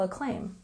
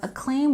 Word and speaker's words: acclaim: We have acclaim with a stress on the second syllable.